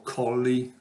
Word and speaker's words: Colle: i got the book edgar cole or cauli like the american would pronounce it uh caissa's wounded a